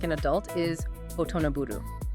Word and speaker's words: 大人振る: The Japanese verb for acting like an adult is otonaburu. Phonetically, when you say it out loud, it sounds exactly like the English title of the song, Otonablue.